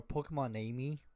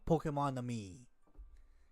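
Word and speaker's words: Pokémon-Amie: Pokemon Ami or Pokemon Amy, way people pronounce it, like it's a pun for the French mon ami, like my love. So Pokemon Ami, get it, mon ami.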